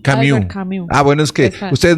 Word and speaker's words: Camus: ¿Cómo se dice Camus? Camus.